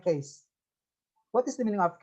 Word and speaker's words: cache: Ya, apa itu misalnya di dalam komputer istilahnya ada tulisan cache, tahu ya cache ya? Case, dibacanya case.